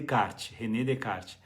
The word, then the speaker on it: Descartes: remédio e card escreve-se descartes mas a pronúncia de kart redecard e ele é considerado um